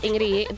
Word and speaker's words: Ingrid: It's Ingrid. Like in Norwegian, the D is silent.